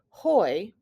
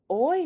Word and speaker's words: hoy: starts with an h the h in spanish is silent so we do not say hoy we say practice saying this word with me now what does oi mean means today the